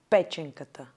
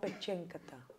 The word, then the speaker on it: Pe4enkata: Pe. Chen. Chen. Ka. Ka. Ta. Ta. Pe4enkata. Ah, Pe4enkata. No, Pe4enkata.